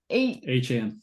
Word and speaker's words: Achane: Achane.